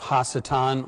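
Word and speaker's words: השטן: about the subject of hassetan or satan and i phrase it or pronounce it that way for a number of reasons not the least of which is the fact that it's not anglicized and also normally in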